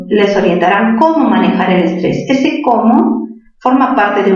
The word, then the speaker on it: estrés: Estrés, ¿dónde tiene mayor fuerza de voz? En la sílaba 3, ¿verdad? 3. ¿Qué tipo de palabra es? Estamos viendo solo regla general de tildación. Estrés, aguda terminada en S.